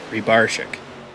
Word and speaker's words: Rybarczyk: And I sent him a message this week, during the week, a day or two ago, just to ask him the proper pronunciation. And I believe it's Rybarczyk.